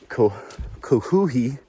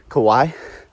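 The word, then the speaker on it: Kuwohi: Just got recently changed name to K Coohi. I don't know how to say it. Kawaii. I've been calling it Kawaii, like Kawhi Leonard.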